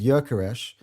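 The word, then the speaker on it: Gyökeres: His pronunciation, his name is Jökeres. He has an umlaut in the O.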